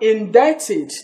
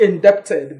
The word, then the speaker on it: indebted: get this palette yes you say that you are indebted to the person not inducted but what in that is indebted right say indebted in that it is not inducted inducted okay we also talk